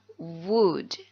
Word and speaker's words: would: like to introduce myself ingat dibacanya wood wood I would like to